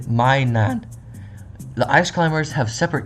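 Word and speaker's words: マイナン: While commonly theorized to represent the Pokemon characters Plussy and Minun, I cannot see those names, as their Japanese names are pronounced Parasusu and Mainan.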